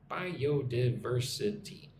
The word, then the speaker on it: biodiversity: Bio bio biio biodiversity. Biodiverse. I'm going to put the emphasis on verse. verse biodiversity, right?